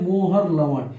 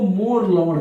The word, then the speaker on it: मोहर लवण: और एक दूसरा आता है उदाहरण इसमें मोहर लवण, या इसको मोर लवण कहते हैं क्योंकि H साइलेंट होता है इसमें, नहीं तो लिखने को लिख देता है मोहर लवण।